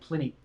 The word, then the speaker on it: Pliny: guitar player plenty yeah I've been saying his name wrong I was saying cleany but I heard him say plenty couple times and he was fantastic